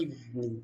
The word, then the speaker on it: evening: Evening. It's not the V Evening. sound. V. You put your teeth on your bottom lip.